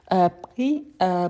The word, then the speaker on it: pris: ici on a parfait pris prix on ne prononce pas le S à la fin mais il faut écrire toujours avec le S à la fin d'accord donc prix prix